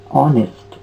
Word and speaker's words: honest: e s d honest h o n e s d honest so this is not honest this is honest so the sound is ah which is actually a vowel sound so before honest we